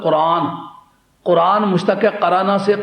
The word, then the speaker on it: قرآن: نام تو آخر رکھا ہے نا۔ دوسری بات، اس کا تلفظ ہے قرآن۔ قرآن مشتق ہے قرانہ